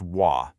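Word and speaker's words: 我: This character is pronounced wah and it means I or the self.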